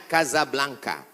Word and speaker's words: Casablanca: kuliah nama negaranya Maroko ibukotanya tulisannya Casablanca Hai cara bacanya Kasablanka Kaza artinya rumah Blanca